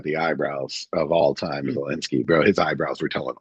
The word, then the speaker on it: Zelensky: I don't think that's how you pronounce it. Zelensky. Um, yes, it's Zelensky.